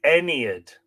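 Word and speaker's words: Aeneid: is your best friend how to pronounce a-e-n-e-i-d oo she's kind of saying any it like it it's spelled phonetically u-h-n-e-e-u-hdid not like not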